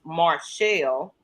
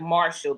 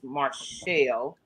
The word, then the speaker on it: Marshelle: Her name is Marshelle. It's But it looks like Marshall because my mom just I don't know what was going on with her when she had my sister. But they call her Marshall and And sometimes she just go with that. It's like But it's Marshelle.